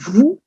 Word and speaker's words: vous: is as i said you pronounce it like it were v double o vous it's used in formal